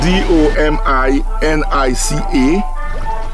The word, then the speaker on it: Dominica: It is spelled D O M I N I C A.